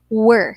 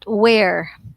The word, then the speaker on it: were: are or they were take note again of the pronunciation we say were all right so we pronounce it as were not where right so they were